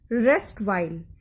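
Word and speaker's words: erstwhile: यहाँ ई अक्षर साइलेंट है और हम इसे बोलेंगे रेस्ट वाइल।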